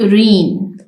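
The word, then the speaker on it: reign: and administration in हिज रीन इसमें हमारे पास जी silent है रीन यहां पर जी की साउंड नहीं है द इस्लामिक एंपायर वास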